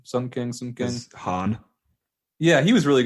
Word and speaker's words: Sung Kang: Yeah, her and Sung Kang, that's how you pronounce his name. Sung Kang.